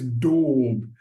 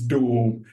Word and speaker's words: daub: So, it's dorb. It's a bit Yeah. So, do Okay, I will say it correctly. In Shakespearean English, maybe in British English, it's dorb.